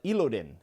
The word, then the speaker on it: Elodin: But Elodin is how you say that, or at least that's how the audiobook says it.